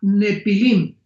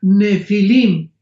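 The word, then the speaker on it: Nephilim: La palabra gigantes es la palabra nepilim n de Nancy y ph intermedia. Nepilim se pronuncia nefilim en el original hebreo.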